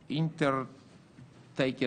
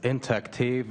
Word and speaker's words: intaktiv: the floor to Mr Harold winterling from Germany inter taken I don't pronounce proba correctly the name of the your organization but Mr uh winterling from Germany thank you Mr President it is inactive and uh thank you uh ladies and gentlemen